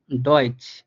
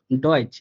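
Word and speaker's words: Deutsch: দেখেন উদাহরণ, দেখেন ডয়েচ, উদাহরণটা হচ্ছে ডয়েচ। দেখেন এর ডিটা কিন্তু ড এর মতো উচ্চারিত হইতেছে।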